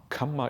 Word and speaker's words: kamma: There's a slight difference in pronunciation that is often missed by people who don't have an Indian background. The kamma is a double M, and it's pronounced as if kamma twice. Kama is a long A sound, and it's different.